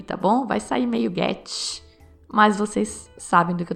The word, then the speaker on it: Goethe: Eu consegui um alemão para me ensinar a pronunciar. Olha só. Goethe. Bom, o pessoal lá de Santa Catarina com quem eu conversei diz Goethe, com aquele sotaque deles.